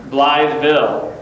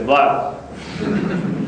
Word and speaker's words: Blytheville: I said, of course, I was up there saying Blytheville. And they said, no. When you're from Blytheville, you got to say Blytheville. So now I try to pronounce it correctly, Blytheville.